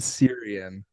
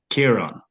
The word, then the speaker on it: Ciaran: I said Syrian. I said Kyran. Kyran is closer. It's Kieran. Kieran. Okay. So you know the English thing, no Kieran. No, Kieran. Kieran, so it's spelled Kieran. Kieran, I think, is the English way. Well, mine is the Irish way of spelling it.